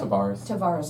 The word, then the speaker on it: Tavarse: And what you bring is, Travaris is, if I said, no, I did. Did I say it right? Tavares, I Yeah.